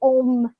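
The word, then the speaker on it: Ogham: seen Ogum is what it's spelt like, but Om is how you pronounce it.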